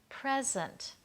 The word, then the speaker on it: present: the word present right notice I'm stressing the first part present that's a gift lovely thing to receive present but we may also